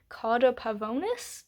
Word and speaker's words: Cauda Pavonis: Oftentimes, as we pass through the Gate of Saturn that I had mentioned, we have the Cauda Pavonis, I think is how it's pronounced.